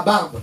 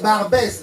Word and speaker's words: Barbès: Et l'autre il dit, bon là nous sommes arrivés à Barbe. Il dit non, c'est pas Barbe, c'est Barbès.